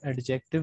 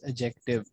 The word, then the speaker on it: adjective: अभी भी कुछ लोग एडजेक्टिव पढ़ते हैं, इसको डी साइलेंट होता है, इट्स एडजेक्टिव।